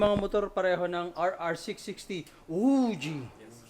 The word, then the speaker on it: Voge: Uji that's how you pronounce vo. Okay. So ayun guys, titignan pala natin 'yung mga motor pareho ng RR60. Uji is that right?